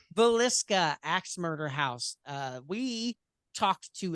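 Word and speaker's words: Villisca: And so we decided that we would go ahead and do our own episode on the Vallisca.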